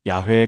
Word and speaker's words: 야훼: 오늘날 대부분의 학자들은 원래 발음이 야회에 가까웠을 것이라고 추정합니다.